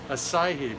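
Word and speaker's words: açaí: in there the uh is that assy berry hackieberry how do you pronounce that acai berry okay so this is it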